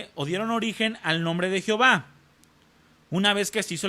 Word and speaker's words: Jehová: Aquí en la en la pantalla viene Yahvé o Yahweé, la pronunciación del tetragramatón más las vocales de Adonay, da origen al nombre en castellano que es Jehová.